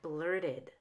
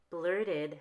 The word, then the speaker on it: blurted: becomes an extra syllable like blurted blurted has two syllables faded faded has two